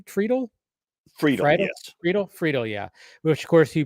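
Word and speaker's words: Friedle: Friedel, yeah.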